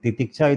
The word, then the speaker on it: Titiksha: Titiksha is a term in Sanskrit which means spiritual endurance. Titiksha. In English, we can spell it as Titikasha.